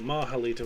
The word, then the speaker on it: Mahalito: want to call it which I think mahalita was correct that's how Robert Woodhead designer of the game pronounced it when I spoke with him and he would know yeah AOE